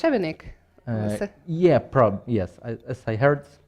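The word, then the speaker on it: Šebenik: Yeah, so Matej, how is it pronounced? Shebenik?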